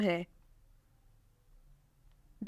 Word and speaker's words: Huda: मानी है नरम, और ये एक सहाबिया का नाम भी है, तो ये बहुत पाक और बाबरकत नाम है। The next name is Umama Fatima. Umama नाम की स्पेलिंग है UMAMA।